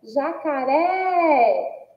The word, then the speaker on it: jacaré: E agora temos aí a palavra jacaré Olha só jacaré Nossa cifra também aí que tem aí ó ur é como sílaba tônica e que o som é aberto então recebe acento agudo existem aí outras e